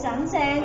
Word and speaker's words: sẵn sàng: And ready, it means sẵn sàng. You can say sunshine.